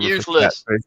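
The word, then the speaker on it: Fort Eustis: Fort useless. Say it right. Fort useless. Fort useless. I know. Yeah, that's what we I'm glad you knew that because not many only locals usually know or people who've been there.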